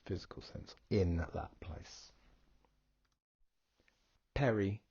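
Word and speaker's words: περί: Perry, which is pronounced like the pear cider, Perry.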